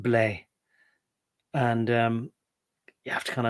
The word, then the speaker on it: blé: The French for wheat is BLE acute. And I think it's pretty much pronounced blé.